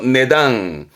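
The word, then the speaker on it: 値段: 내당. 내당. 원래는 값어치를 단으로 매겨놓은 거. 그러니까 값어치를 그 단계별로 그 레벨별로 이제 값을 매겨놓은 그 가격을 말할 때 이 한자였던 겁니다. 발음은 내당. 내당 조심할 거.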